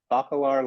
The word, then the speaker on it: Bacalar: Jay is currently the library director at the Bacalar Library. Did I pronounce that correctly?